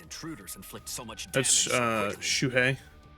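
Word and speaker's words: Shūhei: inflict so much damage Shu I think it's shui you pronounce it hisagi oh boy that's RI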